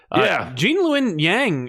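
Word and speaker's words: Gene Luen Yang: Jean-Lun Yang is great.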